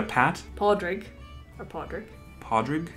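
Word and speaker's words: Pádraig: drake or podrick podrick podrick is irish for patrick patrick really yeah padraig podrick pardrik so you see the truth the father gives it that r sound like shawn podrick changes the sound of the a are you sure is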